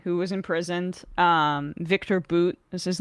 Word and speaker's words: Bout: was imprisoned um Victor boot is his name spelled like bow but it's pronounced like boot um arms dealer not